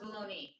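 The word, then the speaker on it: bologna: It's spelled, but it's pronounced bologoney.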